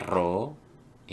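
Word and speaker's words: rho: di populasi korelasinya itu namanya ro Hai ini bacanya roh kalau hipotesis 0000 kopulasi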